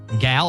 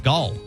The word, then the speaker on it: Gal: Gal, it's Gal.